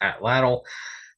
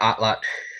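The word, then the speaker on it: atlatl: yes most of the time you'll hear it pronounced at lle but outlot uh is the correct pronunciation because outlot is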